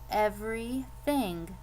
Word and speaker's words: everything: I have 2 E's, 1 Y, and an I. This second E is silent, so I crossed it out, and I'm going to get 3 sounds, so 3 syllables.